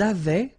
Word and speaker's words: avaient: Ils avaient, so remember, even if we've got this A-I-E-N-T, well, we don't pronounce it, or we don't pronounce this E-N-T, so we get avait, okay, phonetically. Ils avaient, okay, and then elles avaient.